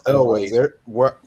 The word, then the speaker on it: Elwes: I always used to pronounce it Yules, but I think Yules is actually incorrect. It may well be It's Elways. From what I hear, everyone calls it Elways.